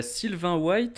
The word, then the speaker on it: Sylvain White: Sylvain White, en fait, je pense qu'on prononce White puisque son père était un basketteur américain. Donc Ah il oui, faut le d'accord. prononcer à l'américaine, mais sa mère était, était française. Mhm. Donc du coup, ouais, c'est Sylvain White.